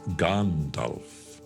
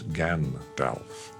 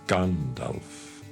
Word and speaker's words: Gandalf: And it's Gandalf, not Gandalf. It's Gandalf. It is Saruman. It is Theoden, not Theoden.